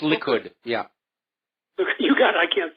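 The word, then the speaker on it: Likud: put T yeah the L party Li it's pronounced liid yeah you got I can't say it but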